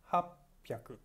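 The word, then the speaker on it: はっぴゃく: sound yaku 600 i ropey aku 801 I hop pyaar ko punch in a not in young ape or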